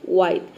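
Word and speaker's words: white: पे W जो है यहाँ पे H जो है साइलेंट है।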